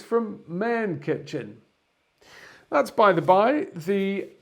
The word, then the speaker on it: MännKitchen: before today is that an a with two dots above it otherwise known as an umlaut is actually pronounced air so in fact it's from main kitchen that's by the by